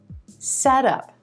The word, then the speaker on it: setup: together into one word put the stress on the first word set and it becomes set up set up a setup is a